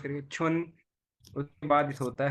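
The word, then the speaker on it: 春: छुन, इसको प्रोनाउंस करिए छुन।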